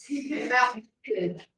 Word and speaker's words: melted: Melted. Isso, é um pontinho de I e D. Melted. Isso. Esse adiciona uma sílaba. Esse adiciona uma sílaba. Então fica melted. Como fosse o tempo da segunda sílaba.